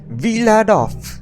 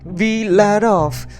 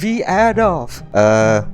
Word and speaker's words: Vladof: It's pronounced Villadov. Say it with me, we let off, not we add off.